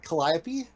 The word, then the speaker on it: Calliope: thank you and she is a sorceress and Calliope oh you said it right yes I'm Calliope